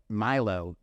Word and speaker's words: Millo: l o so Milow is m i l Milo M it's one L it's just one L